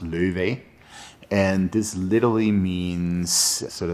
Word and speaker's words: Laufey: in the Old Norse, the name will be pronounced Løve.